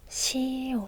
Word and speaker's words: 시옷: Được rồi, chúng ta tiếp tục với chữ tiếp theo, 시옷 .